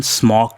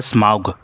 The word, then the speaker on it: Smaug: करने जा रहा हूँ ड्रैगन स्मॉग के बारे में, या यूँ कहिए इसका जो करेक्ट प्रोनाउंसिएशन है वो है स्माउग।